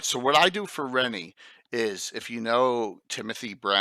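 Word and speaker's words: Rhennee: I know some people say Renee, Anna, but I say Rennie.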